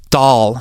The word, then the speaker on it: Dahl: are by uh Ronald doll not sure if I'm pronouncing his name right but I think doll is d a HL if I'm right anyway uh he wrote